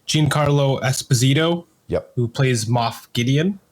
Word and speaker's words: Giancarlo Esposito: next we had the actor uh hopefully I pronounced this correctly Giancarlo Esposito yep who plays moth Gideon moth Gideon yeah